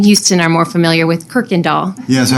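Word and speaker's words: Kuykendahl: You don't see the R, but you hear it, right?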